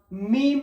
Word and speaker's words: ميم: মিম, দুটো ঠোঁট এক জায়গায় করে সিম্পল, মিম।